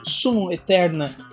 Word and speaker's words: Summum Aeterna: Nos vídeos anteriores, o título do jogo Summon Eterna foi pronunciado equivocadamente com sotaque mais puxado para o inglês. A pronúncia correta deveria ser mais para o latim.